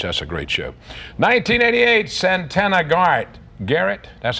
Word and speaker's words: Santana Garrett: 1988, Santana Garrett, that's how you pronounce it, yeah.